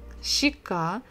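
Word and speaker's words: щека: of the most popular words will be shikka shika so it's a cheek part of your face chicka so the previous letter we said it kind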